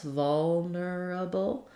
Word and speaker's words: vulnerable: different pronunciations here um we have first syllable stress vulnerable vulnerable um so I can do three uh four syllables vulnerable that would sound like vulnerable vulnerable um here's another place